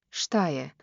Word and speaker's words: Šta je: Šta je? Now slower, crisp, shish, in S.